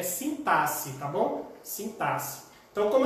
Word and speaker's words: sintaxe: A forma adequada que a gente usa de pronúncia é sintaxe, tá bom?